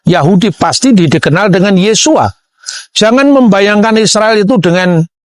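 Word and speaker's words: Yeshua: Sehingga ketika orang membaca ee nama Yesus, ketika dia orang Yahudi, dia pasti membaca Yesua. Yang percaya bahwa Yesus itu Mesias pasti membacanya Yesua Hamasiah.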